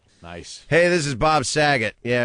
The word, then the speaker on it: Saget: Hey, this is Bob Saget. Yeah, it rhymes with faggot.